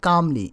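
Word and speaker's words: calmly: Mister অ্যালসপ said কামলি, এখানে হবে কামলি মানে শান্তভাবে, একটা এল আছে, এলটা কিন্তু আসলে উচ্চারণে আসবে না।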